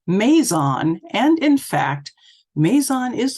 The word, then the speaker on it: Mazon: However, the local pronunciation is counterintuitive, as the vast majority of two-syllable English place names are pronounced with the word stress on the first syllable. For example, Yorkshire, Brighton, Oxford. Following this convention, Mazon would be pronounced Mazon,